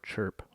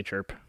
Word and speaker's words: CRHP: it very endearing that the pronunciation of the acronym for Christ Renaissance Parish is as though it is spelled c-hrp instead of crhp it must have just been fun to say chirp and so it stuck